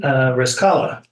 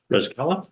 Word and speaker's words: Rescala: Rescala. Rescala, just like it looks.